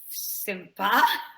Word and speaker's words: sympa: Ils ont des profs sympas. Ils ont des profs sympas. So they have nice teachers. Ils ont des profs sympas. Sympa. Sympa. Voilà. It's the same sound as intéressant.